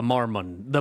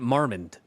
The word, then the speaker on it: Marmont: a mind place the Marmon the Marmon it's Marmont I've always pronounced it marand I've been wrong this entire time nice glasses dork okay